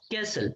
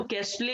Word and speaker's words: castle: CASTLE, इसका pronunciation क्या होता है बेटा, कैसल, है ना. इसको कैस्टले नहीं बोलना है, दिस इज कैसल.